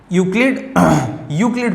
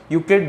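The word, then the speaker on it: Euclid: और fifth chapter है introduction of यूक्लिड पढ़ेंगे, ई साइलेंट होता है, यूक्लिड्स ज्योमेट्री।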